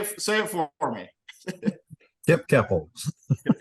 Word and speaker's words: Koeppel: Kipp Koeppel. Kipp Koeppel.